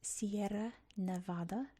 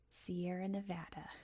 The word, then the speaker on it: Sierra Nevada: Not Sierra Nevada. Sierra Nevada is how you say it.